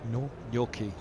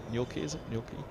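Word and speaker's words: Nortje: the south african fastball nor your key your keys which looks nothing like it sounds it's true a t sounds like a k i've actually been doing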